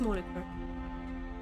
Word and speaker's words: moniker: Sorry, I was going to pronounce that differently, but it's moniker.